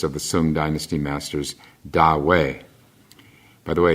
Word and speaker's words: Ta Hui: the Sung dynasty masters, Da Wei. By the way, it's spelled the first word is Ta. The T is pronounced like a D, Da, and then the second word Hui.